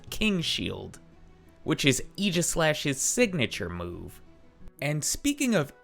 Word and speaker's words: Aegislash: going to be running Eis slash today and that's how I heard it pronounced in the anime so that's how I'm going to try to pronounce it throughout this video now